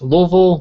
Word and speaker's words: Louisville: Like people pronounce it differently. Like there's Louisville, Louisville, Louisville, Louisville is the weirdest one.